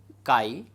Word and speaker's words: chi: that can be written p is equal to Chi Epsilon e here the sky this is pronounced as here Chi and this is known as Electric susceptibility so